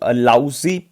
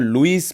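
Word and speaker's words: Louise: तो लाउजी पेनी, या आप कह सकते हो लुइस पेनी, किसी भी तरह से आप प्रोनाउंस कर सकते हो इसको।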